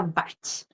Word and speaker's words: Bach: también hay inglés y Google dice que eh se pronuncia Bach Así que toda la